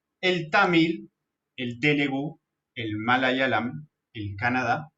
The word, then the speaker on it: malayalam: El tamil, el telugu, el malayalam, pronunciamos con I, malayalam, el kannada y el oriya.